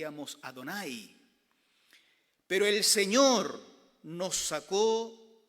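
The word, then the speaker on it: Adonai: porque esta es la expresión que en hebreo pronunciar y amos adonay pero el señor nos sacó de allá donde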